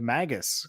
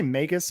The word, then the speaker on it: Magus: or Magus how how do you say that I say megus because I megus because I'm pretty sure it has to it's based on uh the wizard from the Bible Simon megas oh okay well isn't